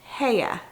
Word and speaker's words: Heye: we are going over the brand heya i think that's how you pronounced it i looked it up on google it is a german